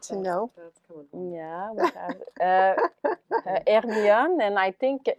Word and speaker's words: Hermione: Yeah, we have Hermione, and I think in English you pronounce it Hermione, but it's Hermione, which is a kid silk.